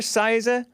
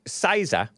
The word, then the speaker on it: CISA: are also misinformation fiends remember saisa c-i-s-a that is so funny that that came from them these people are pots and kettles am i right okay so saisa i think that's how it's pronounced cyber security and infrastructure